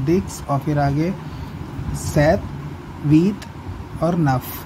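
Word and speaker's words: sept: सेथ लिखा है 7 के लिए, लेकिन हम लोग सेप्ट बोलते हैं सितंबर में. इसमें क्या है, पी प्रोनाउंस नहीं होगा.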